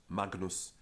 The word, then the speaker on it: magnus: Alan in walks Latina the only time we pronounce of our long in front of GN is regnum segnis and all other cases of the vowel before GN are actually pronounced shot agonos Magnus ignis dignus ignotus not ignorance which if you